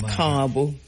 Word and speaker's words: Ka'bu: So the A is long, so car, and then a bo short. So it's Cabo. Yeah. Kabu.